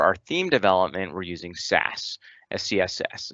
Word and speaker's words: Sass: And then lastly, for our theme development, we're using Sass. CSS. It's generally pronounced Sass, and that gets compiled down to CSS, just like TypeScript gets compiled down to JavaScript.